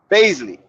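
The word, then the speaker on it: Bazley: Blasey or Blase or something? How you say his name again? Baisley.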